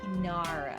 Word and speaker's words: kinara: And then you'll have yourself a kinara. Kinara.